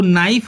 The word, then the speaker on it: knife: जैसे KNIFE, इसको नाइफ बोलेंगे, नाइफ मीन्स चाकू।